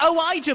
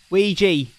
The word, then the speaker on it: Ouija: You're saying Ouija, as in like Mario and Ouija? Really? Ouija board. How it's pronounced? Can you not see the A at the end?